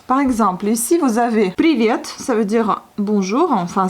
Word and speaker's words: привет: Donc on prononce привет. Mais c'est pas привет, c'est привет. Привет.